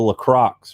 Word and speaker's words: LaCroix: a uh you know i think it's pronounced lacroix but if you're from this area it's a lacrox right um this is